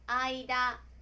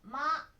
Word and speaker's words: 間: Nó có thể được đọc là "aida", "ma" hoặc "kan".